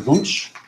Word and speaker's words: Wunsch: Today we are pleased to have Wunsch. Did I pronounce that correctly? Say Wunsch, yeah. Wunsch, okay.